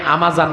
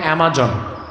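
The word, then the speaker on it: Amazon: আপনারা যেটাকে আমাজন বলেন, উচ্চারণটা অ্যামাজন।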